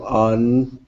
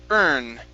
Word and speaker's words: earn: earn this money to on this money okay instead of on it's ER earn to earn this money